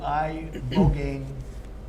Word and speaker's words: ibogaine: injuries underwent, it's called ibogaine treatment. Ibogaine. Remember the name. Is that pronounced relatively properly, would you say? Yep.